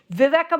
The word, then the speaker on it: Viveca: But anyway, Viveka Morris, and thank you for correcting me on the pronunciation, and Jennifer Jacquet.